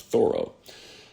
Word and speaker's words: Thoreau: told me he believed he wanted his name pronounced Thoreau.